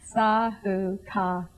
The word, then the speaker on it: Sahuka: Sahuka. Emphasize the ka.